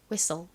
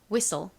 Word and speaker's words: whistle: whistle 자 발음 같이 해 볼게요. whistle whistle 좋습니다.